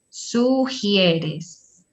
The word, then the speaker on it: sugieres: Aquí, en esta palabra, sugieres. Sugieres. Ajá. La G seguida de la I suena siempre he. G y siempre suena he, sugieres.